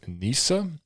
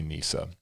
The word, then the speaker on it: Neasa: one i is it nissa nissa hardiman um i'm i'm sorry if it's wrong but it's a lady named nissa it's n-e-a-s-a i'm gonna say nisa nissa hardiman um the only